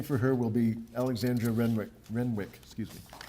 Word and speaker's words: Renwick: Reading for her will be Alexandra Renwick. Excuse me. I'm cursed with a silent W in the middle of my last name, so that's why some of you may know me as.